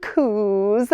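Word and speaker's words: coo: these beautiful horns but in Scotland we don't say cow like an American we say coup anything that would be an ow sound is an oo sound so they call them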